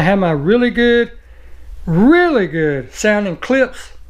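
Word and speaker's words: Klipsch: And then I have my really good sounding clips. It's spelled K-L-I-P-S-C-H.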